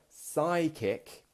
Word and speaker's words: psychic: If you're a psychic, the letter at the beginning is a P, but we say the S. The P is silent.